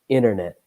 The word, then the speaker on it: internet: In American English, the T has a bit of a strange sound. And so, see, I kind of say internet, internet. I don't pronounce the T.